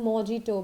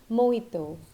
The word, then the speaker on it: mojito: t oh but exact pronunciation is mojito I have seen so many people around me calling it as mijito but it is mojito okay so from the